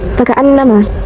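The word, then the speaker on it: فَكَأَنَّمَا: Lalu ada guna, faka'annama. Terdapat guna, yaitu nun bertasydid. Cara bacanya ditahan serta memakai dengung ke hidung. Faka'annama.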